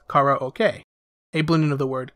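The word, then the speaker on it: カラオケ: would be karaoke or how it's pronounced in japanese kara okay a blending of the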